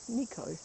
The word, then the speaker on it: Nikau: Spell it Nikau, Nico.